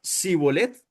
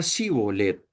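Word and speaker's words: שִׁבֹּלֶת: Era la manera en la que pronunciaban esta palabra. Si la pronunciaban erróneamente por un sonido de como que con esa S en lugar de la SIH, o sea, ese era como el acentico, ese es como un acento simplemente.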